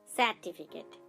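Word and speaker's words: certificate: সার্টিফিকেট দেখুন এখানে আমরা সি এবং ই কে পাচ্ছি। এখানেও দন্ত স উচ্চারণ করছি বাট তার সাথে একটা স্বর যুক্ত আছে, সেটা হচ্ছে এ।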